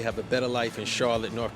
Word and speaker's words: Charlotte: Charlotte. The vowel in the second syllable is reduced to schwa with a stopped T at the end because the final E is silent.